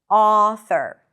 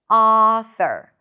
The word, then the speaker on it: author: The back of the tongue is raised a little bit. The lips are slightly rounded. Author. You can also pronounce it as a more neutral sound, like the ahs in father. Author. Author. Choose whatever is easier for you. Just keep it one sound.